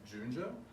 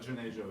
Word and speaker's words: Junejo: The last name is the month of June and then J-O. So it would probably be easier if I said Junjo, but Junejo is the correct.